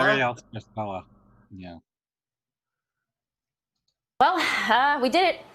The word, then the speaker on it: Ariel Scarcella: How do you pronounce her name? Ariel Scarcella. Ariel Scarcella.